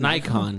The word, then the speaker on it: Nikon: Nikon. Get the fuck out of here. It's not an X, buddy. It's a fucking what? You a fucking retard or what? it's a fucking K.